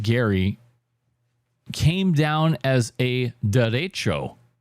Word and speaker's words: derecho: The unusually powerful winds that hit Gary came down as a derecho. That's a Spanish word, so I'm pronouncing it like a Spanish word.